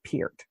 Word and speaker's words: Peart: And interestingly enough, if it's spelled Peart and you're an American, it is pronounced Pert. But if you're outside of the U.S., it's pronounced Peart. So my husband's from the Caribbean, so they pronounce it Peart.